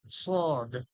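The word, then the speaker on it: صاد: সদ সদ সদ সদ সদটা কিভাবে ঠোঁটের মাঝখান থেকে হালকা ঠোঁটটা ঠোঁটের মাঝখান থেকে হালকা সিটির মত হালকা সুরালো যেভাবে সুর থাকে মানুষের একটা সুর বের হয় ঠোঁটের মাঝখান থেকে হ্যাঁ স এটা স যেভাবে ছিল সাহিভের মাঝখান থেকে সা ছিল আর এটা ঠোঁট গোল করলে যেভাবে ঠোঁটের গোল থেকে যেভাবে স্বর এভাবে পাতলা ভাবে সুরালো আওয়াজ সবে সদ সদ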